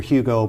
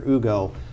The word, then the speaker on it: Hugo: it in English, Victor Hugo, but I know the H is silent in French, so it's Victor Hugo, wrote Les Miserables, one of the great novels of the 19th century.